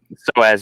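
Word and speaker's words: psoas: to strengthen the Sohus is that are you pronounce it Robert so as yeah that's that little muscle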